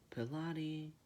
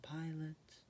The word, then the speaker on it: Pilate: Pilate. You wrote down Pilate. Oh, it's pronounced like pilot. Like a riverboat pilot.